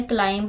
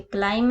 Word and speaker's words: climb: Okay, इसको हमने क्लाइंब नहीं रीड करना है, इसको थंब नहीं पढ़ना है। ओके, ये थंब है, ये क्लाइम है और ये लिम है।